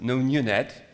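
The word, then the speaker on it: nnU-Net: Has already, I mean, made a kind of lot of change, and NNUNET, pronounced NoNUNET, is actually a framework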